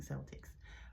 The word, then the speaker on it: Celtic: But it starts with the C, and it looks like Celtic, but not the Boston Celtics, but it's Celtic. It sounds like a K, but it starts with the C.